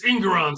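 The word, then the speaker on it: Engoron: judon so you can't got nron judge it's ingon sir it's ingon but you can't touch about you can't talk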